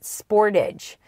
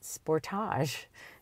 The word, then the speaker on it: Sportage: And he says to me, "You Canadians, you don't pronounce it Sportage." And I said, "No, we pronounce it Sportage."